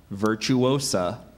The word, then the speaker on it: virtuosa: word could be confused with a similar word virtuosa and a virtuosa is a woman who excels in the technique of an art especially one who is a musical performer as on the violin or the piano virtuosa could I have the language of origin please